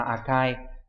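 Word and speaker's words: 赤い: Đọc là Akai.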